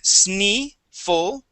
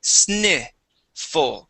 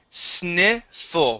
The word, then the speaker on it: sniffle: break it up so instead of saying sne full we're gonna say Sni full so we're going to try the two parts Sni full try that Sni full that's it sniffle one more time sniffle great sniffle sniffle good that's the short I sound the I okay I